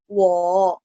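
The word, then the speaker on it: 我: Ada ya, nomor 4, wo, nada 3 juga ya, dicentang, jadi bacanya agak diayun.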